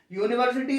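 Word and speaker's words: university: और ये है यूनिवर्सिटी यूनिवर्सिटी में इस की स्पेलिंग यू से शुरू हो रही है। लेकिन हिंदी में इसका उच्चारण साउंड य है।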